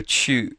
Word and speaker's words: chu: in the pronunciation but this U is like the French U so it's your lips of purse um it should not sound like the English chew your food um it should sound